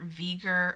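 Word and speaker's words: V'ger: the motion picture vieger i mean veger is spelled v apostrophe ger and i think if you see that you know you and you know what veger is then you have a pretty good idea it's voyager just abbreviated yeah and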